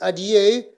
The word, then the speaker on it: adieu: And the first one is adieu. This is a French word, so it has to be pronounced in a French way.